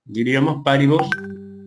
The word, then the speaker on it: paribus: Ceteris se escribe con C, paribus, terminado en bus, omnibus, diríamos paribus.